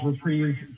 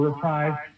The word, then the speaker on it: reprise: Syncophil's Reprise series or Reprise. I did a lot of research. My stress this week was all about the pronunciation of reprise or reprise, and both are acceptable in the United States of America.